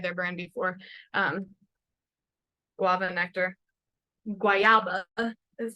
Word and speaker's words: guayaba: Guayaba is how you say it in Spanish.